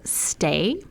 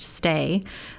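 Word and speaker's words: Sthay: And so I always So it's stay, but there's a silent h in the middle of it. So that is awesome. Yes. So it's s t h a y pronounced stay.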